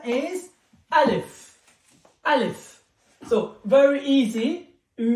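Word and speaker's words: ألف: will teach you how to pronunciation, how to pronunciate, how to say it. The name of the first letter is Alif.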